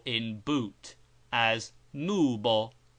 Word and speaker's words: nubo: U, like double O in boot, as nubo, nubo, and never as U in mute or but.